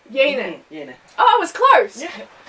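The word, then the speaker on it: Yeine: How would you pronounce her name? Yane.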